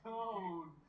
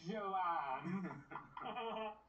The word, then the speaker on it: Joan: Joan. It's pronounced Joan, not Joanne.